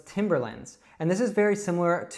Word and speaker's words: Timberland: Now, in the United States, we would call this Timberland.